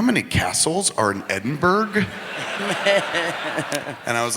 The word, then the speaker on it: Edinburgh: And I was like, well, they pronounce it Edinburgh. And he's like, that's fucking dumb. And I was like, why? And he goes, because we don't pronounce Pittsburgh, Pittsburgh.